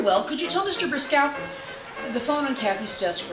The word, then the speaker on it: Briscoe: "You are Kate Briscoe." Kathy winced at the mispronunciation. "It's Briscoe with the long O, and obviously it's not Mr.